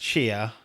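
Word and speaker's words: Tchia: the showcase i think it's fetch pronounced cheer um no release window our seb mispronounced that badly is the developer um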